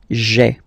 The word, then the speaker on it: j'ai: take this away, okay, so that you've got this sound j'ai, j'ai, okay, so j apostrophe ai. Remember, when you combine this ai, you get the e sound, okay.